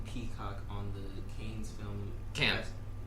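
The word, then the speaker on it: Cannes: Stars in glamorous gowns often peacock on the can's film can. It's pronounced can yeah film festival red carpet.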